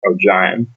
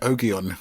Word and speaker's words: Ogion: So in the audiobooks, it's pronounced O'Jaim, because in my head, it's always been Ogion.